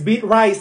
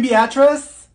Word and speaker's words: Beatrice: Olivia here if your name is Olivia it's pronounced Olivia that's like the easiest name in the world it's beet rice here did she say she's beating you mean Beatrice thank you Mikhail ma'am it's Michael okay what